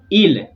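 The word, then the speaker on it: ils: So it's il. Why? Because we don't pronounce consonants at the end. The S, do not worry about it.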